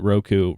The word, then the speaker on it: Roku: So Roku, people pronounce it differently. I pronounce it Roku, reported a narrower than expected Q4 loss of 13 cents per share.